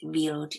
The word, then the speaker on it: Wild: spelt wild and means wild but is just pronounced vealed in the german she was a young one